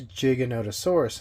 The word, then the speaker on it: Giganotosaurus: scientific book and or if you look at how Rodolfo Korea you know the person that actually named Giganotosaurus says it it is Giganotosaurus and not how Jurassic world pronounced it now these are very